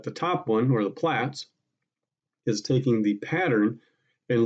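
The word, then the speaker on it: PLTZF: is the plaits and it is pronounced plats tells you in the standard how to say it the bottom one is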